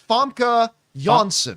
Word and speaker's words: Famke Janssen: Janssen, or, as I've been told, is properly pronounced Huskis Vorg Visky Vorg. Or it's Famke Janssen.